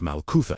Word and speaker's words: Malkutha: He knew that before a person could experience the reality of MALKUTHA, pronounced MALKUTHA, meaning God's divine reign, they first had to recognize which kingdom was already ruling their thoughts.